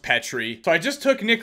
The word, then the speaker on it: Petry: I'm gonna go with none other than Jeffrey Petry I'm just kidding I know it's pronounced Petri so I just took Nick Letty to be